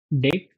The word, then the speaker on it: deque: DQ stands for double-ended queue, pronounced as Deque.